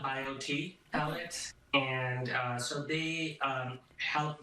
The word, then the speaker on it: BioTE: Is that how you pronounce it? They're called BioTE Pellets, and so they help with the hormone regulation, and they are bioidentical hormones.